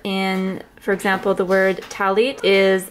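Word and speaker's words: טַלִּית: s here they call it instead of a talit they call the talis this was actually the sitter that i used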